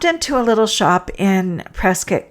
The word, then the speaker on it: Prescott: town, uh, Prescat, the it's spelled Prescott, and I really there's everything in me wants to say Prescott, but they call it Prescuit here.